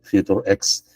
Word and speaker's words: Futurex: futurex no esta término yo lo pronuncio Future ex eh que consiste en